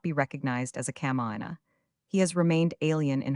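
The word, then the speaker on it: kamaʻāina: It contains 5 vowels, which, with the 3 consonants, compose 5 syllables. No syllable is accented, all syllables are pronounced, the vowels having precisely the same values as the Italian vowels.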